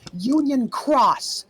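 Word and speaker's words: Union χ: Because it used to be pronounced key, but now it's pronounced cross.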